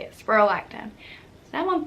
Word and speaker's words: spironolactone: That's how you say it, spironolactone.